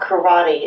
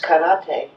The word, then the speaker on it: karate: like it's pronounced and every syllable is pronounced the same emphasis so it's not saki that we drink it's sake it's not karate it's karate so they have a